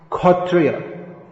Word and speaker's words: kshatriya: same as k so in bengali kshatriya is khotriya but in bengal there's